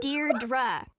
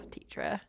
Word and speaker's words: Deirdre: Deirdre. I know it's got that tricky second syllable, but I figured it out by age 2. Don't give up. You'll get there. I love her so much. Deidre.